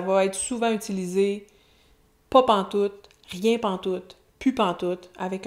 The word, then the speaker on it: pantoute: Il n'y a plus rien pantoute. Pantoute, autre beau mot québécois, c'est la contraction de pas en tout. On prononce le T final. Pantoute, pantoute.